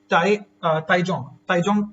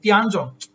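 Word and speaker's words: Tiangong: रही है, जिसका नाम क्या आपका, दैट इज ताइजोंग स्टेशन, ताइजोंग करके ना, ताइजोंग, ये थोड़ी प्रोनाउंसिएशन का ऊपर हो सकता है, ओहो तियानजोंग, अरे यार वही तो सोचो ना, गड़बड़ क्यों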